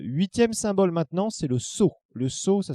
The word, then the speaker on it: sceau: 8e symbole maintenant, c'est le sceau. Le sceau, ça s'écrit S-C-E-A-U.